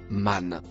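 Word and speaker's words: من: Le mot marron se prononce man.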